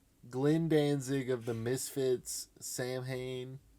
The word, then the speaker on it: Samhain: danzig of the misfits samhain i think it's actually pronounced so in or something saying hank sam hayne and danzig father tell